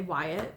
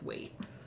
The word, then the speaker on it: Waite: I've been pronouncing it wrong. I want to say Wyatt, but I believe it's Waite.